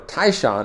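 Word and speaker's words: 泰山: Tyson in Korean or Tai Shan is the Chinese pronunciation but the first line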